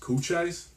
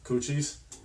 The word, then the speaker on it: Cochise: at everybody to learn I go mispronounces couch eyes cochis cochise so we did like